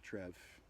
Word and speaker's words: Trier: like 2,000 years old yeah you go to Trier um Trev depending on on how you pronounce it uh that was a little Celtic